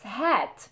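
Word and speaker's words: هات: spoken arabic pay attention so it's hat just like the hat you put on your head same pronunciation so it's hat hat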